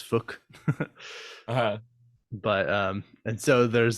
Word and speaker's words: Phuc: Anyway, there is this one character in the movie whose name is is spelled Phuc. Nice. Yeah, and they're from I think Japan, so his name is Fook.